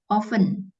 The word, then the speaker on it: often: ceroboh he terus Bentar ini bacanya oven ya bukan often tapi oven oven eh en ov ya Miss Iya jadi t-nya enggak dibaca oven bukan afteren Miss